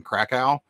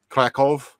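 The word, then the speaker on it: Kraków: and 24th in in krakow which i am told by my boss who speaks polish that it's krakov uh is how you're actually supposed to pronounce it so hopefully i did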